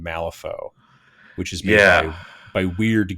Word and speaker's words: Wyrd: which is made by Weird Games, which is spelled WYRD as opposed to like the normal way that Weird is spelled.